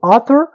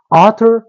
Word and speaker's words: author: نو مطلب دویمه قاعده ده هر وخت یو کلمه په ای یو شروع وي نو داسې فکر وکړئ چې دا یو نه تلفظ کړي، صرف ای وایي آ. صحیح شو. نو دا چې شو author audience audio.